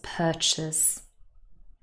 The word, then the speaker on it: purchase: the second part looks like chase but no it does not have an a sound it's purchase i hope this has